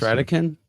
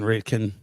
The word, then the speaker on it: Ratekin: the show I said it wrong is it pronounced Rican yep like radical okay all right I've been saying wrong my apologies I was saying raiken raiken yeah yeah but but it's Ric Ric